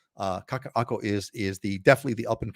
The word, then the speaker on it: Kaka'ako: I hope you're watching because it's Kaka'ako. Just right there below. Kaka, Okina, Ako. Kaka'ako. Kaka'ako is definitely the up and coming condo area on Oahu, no doubt about it.